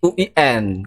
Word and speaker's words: UIN: untuk jadi S3 di Win Ya amanat Rektor itu punya pelafalannya harus kawin lambang bunyi nada bunyinya ke sana ya U dan itu dekat ke W ya ya harus UIN ini informasi ini penting